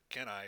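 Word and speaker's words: Cannae: have happened to the the carthaginians at uh can I or Kane how do you pronounce that c-a-n-n didn't the carthaginians very famously oh yeah what would have happened to the Romans can I there we go I remember it was a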